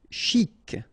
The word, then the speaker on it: chic: Chic. Okay, you pronounce the final C and then CH together. Sh.